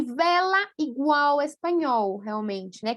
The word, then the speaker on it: vela: Vela. Vala. Também, né? Então, agora, só escutem, percebam aqui a diferença. Eu vou pronunciar e vou circular o que eu pronuncio. Bela, vela. Bala, vala. Super diferente, certo, gente?